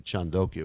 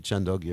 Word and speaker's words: Chandogya: It's from the Chandogya Upanishad, 622.